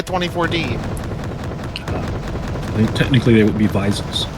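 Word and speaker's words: Wiesel: technically they would be visil since the W is pronounced like a v in German oh yeah yeah visil oh I don't know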